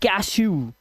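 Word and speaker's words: cashew: तो ड का जो उच्चारण करोगे वो ऊ कर देना क्या कर देना ऊ इसीलिए इसे पढ़ते हैं छू इसे पढ़ते हैं कैशु बादाम इसे ब्लू स्क्रू और ग्रू इसलिए यहां पर डब् का उच्चारण ऊ हो गया है कब सी एच एस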